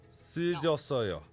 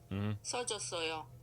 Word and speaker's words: 써줬어요: So this 쓰 become, if you come before this verb to use as explain what's going on, this 쓰 becomes 써 because it's easier to pronounce.